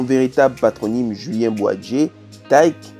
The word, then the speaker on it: Tayc: patronyme juillet moi 'j'ai tyke qu'il faut prononcer daiki né au coeur de